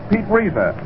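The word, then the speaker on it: Reiser: Pete Reza, that name is R E I S E R.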